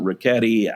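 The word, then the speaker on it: Richetti: Now, on the morning of June 16th, Pretty Boy Floyd and his alcoholic sidekick, Adam Ricchetti, some people pronounce it Ricchetti, they were in the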